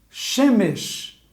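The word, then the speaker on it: שמש: Uma dica aqui importante, quando há dois E, o primeiro é tônico. Shemesh.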